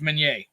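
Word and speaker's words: Minié: It's like mini ball is Meunier. Yeah. It's French.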